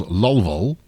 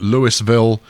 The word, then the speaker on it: Louisville: and what I am reliably informed is pronounced by the locals Lowell Hall seems seems wrong apparently Louisville is absolutely fine but one should not call it Louisville if if one does not want to be excommunicated by the citizens thereof